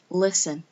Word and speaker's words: listen: f t n and usually the t is silent but not always okay guys i get